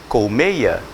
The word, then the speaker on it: colmeia: palavra aqui ó e cuja pronúncia clássica e correta é página em Colmeia com 6 ele foi lá a Colmeia e pegou Mel Só que a gente passar na Falar o quê Colmeia Colmeia Colmeia Colmeia o que o